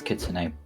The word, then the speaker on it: kitsune: He mispronounced Kitsune. It's Kitsune. 4.